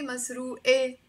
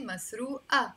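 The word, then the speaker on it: مسروقة: by a te marbuta i never say masroo e i have to say masroo a stolen suffocating like if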